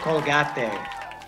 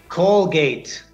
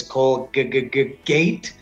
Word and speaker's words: Colgate: In Mexico, they said Colgate. Okay, now explain to us how to pronounce it correctly in English. Colgate. Colgate. Again, two syllables because of two vowel sounds.